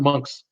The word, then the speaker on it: Moncks: look like my mom the city's pronoun monks Sylvia I had to admit I saw the word monks on the bottom of your message so I read I saw that and I think you're gonna give me a hard time about how to pronounce out of heart of pronounce monks mo and C KS but I saw monks